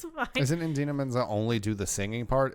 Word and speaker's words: Idina Menzel: Idina Menzel, It's not that hard of a name. Adele It's Dazeem. said like it's spelled.